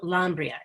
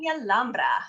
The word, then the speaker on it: Lambra: a beautiful young noblewoman donna lambria is that how you pronounce it jessica lambra oh beautiful spanish accent thank you gonzalo contributes